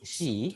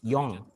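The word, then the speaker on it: 四: yes uh yeah okay we have two pronation for it okay one is she that you mentioned just now she other one is Yong she means die oh okay yes oh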